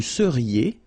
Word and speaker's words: seriez: Vous seriez. So here when you've got this EZ at the end, then you get the sound E, seriez.